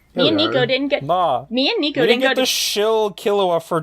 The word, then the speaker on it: Killua: I actually called him Kahlua, as is my character to mispronounce everything. I called him Kahlua for like the first 40 episodes, so no one is safe. Is that not how you pronounce it? No, like the alcohol Kahlua instead of Killua.